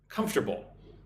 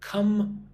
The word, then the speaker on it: comfortable: Notice how I I do not say comfortable. Do not say comfortable. Say comfortable. Three syllables. Comfortable. It's kind of strange with the M and the F next to each other.